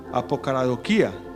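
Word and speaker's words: ἀποκαραδοκία: En el griego es hasta difícil de pronunciar. Apocaradoquía es más o menos la forma como se pronunciaría, que básicamente lo que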